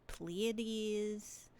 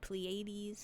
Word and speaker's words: Pleiades: has representations for Orion, the Pleiades, or Pleiades, however you want to pronounce it.